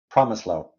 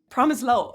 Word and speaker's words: Promislow: enough how would you how is it right promise low promise low okay okay back in the old country it